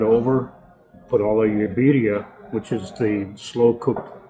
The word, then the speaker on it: birria: Like then you get like a birria. Birria. You pronounce the accent is on the beer.